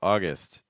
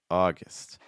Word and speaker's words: August: is a fun one so August you want to finish with a short eye sound so it's not gust gust it's guest guest August August see how light